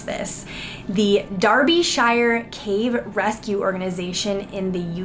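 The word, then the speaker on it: Derbyshire: this in because he told me how to pronounce this the darby shire cave rescue organization in the uk very neat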